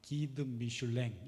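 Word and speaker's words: Guide Michelin: 예, 미쉐린 타이어 회사에서 만든 잡지인데 이게 이제 프랑스어 본토 발음으로는 기드 미슐랭 이렇게 한다 그래요.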